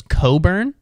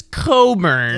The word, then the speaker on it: Cockburn: his last name was Coburn but they spelled it c-o-c-k b-u-r-n his last name was cockburn but they just did the biggest mental gymnastics of all time to be like this is Coburn it's a real like